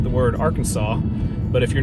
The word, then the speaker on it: Arkansas: might call it is Ark City and it's spelled like the word Arkansas but if you're not familiar with this part